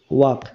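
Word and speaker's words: walk: ডব্লিউ এ এল কে ওয়াক এখানে দেখো অক এই শব্দটার এল এই এল এর উচ্চারণ কিন্তু হচ্ছে না তাহলে আমরা এই এল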